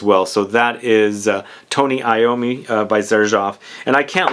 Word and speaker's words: Iommi: Yeah, I mispronounced his name in the video I did recently. So it's Tony Iommi, and this is a